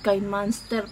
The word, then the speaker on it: KineMaster: My God, KineMaster pala yan. KineMaster ang pronunciation.